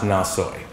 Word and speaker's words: Nathoy: It appears that her first name was really Lalu, L-A-L-U, and last name N-A-T-H-O-Y, Nathoy, pronounced Nasoy.